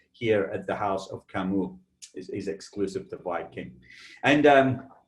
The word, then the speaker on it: Camus: Not to be mistaken, if you ever see the spelling of Camus, it's C-A-M-U-S, sometimes confused with Camus of the Napa Valley fame, but this is pronounced Camus, and it is the House of Cognac.